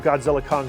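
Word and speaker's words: Godzilla x Kong: is the success of Godzilla Kong the new Empire don't pronounce the X do not pronounce the X uh I I hope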